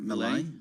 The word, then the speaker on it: Milei: How do you pronounce his last name? Milei. Milei. Okay, Milei.